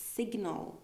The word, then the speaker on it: signal: it the same way it's not signal it's signal here okay so here we pronounce the G very clearly signal uh and then